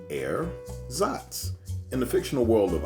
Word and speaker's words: ersatz: today we talk about air zots rate erzots an artificial substance or article used to replace something natural or Genuine a substitute pronounced air zots in the fictional world